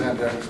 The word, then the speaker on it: Antiochus: next time who this Antiochus Epiphanes is. Some people like to call it Antiochus Epiphanes. I think the proper pronunciation is Antiochus. But since the town is Antioch, I always say Antiochus.